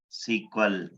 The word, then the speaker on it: SQL: do long cell sequel you can pronounce a scale as water sequel did you understood it